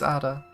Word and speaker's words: Ada: My human name is Ada. A-D-A. Oh. Ida? She pronounces the last syllable of her name by deliberately plucking at the top palate with the tip of her tongue.